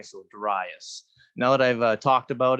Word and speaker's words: Darius: people use the name Darius I won't correct you can call me Darius uh but I do say with a long eye so Darius now that I've talked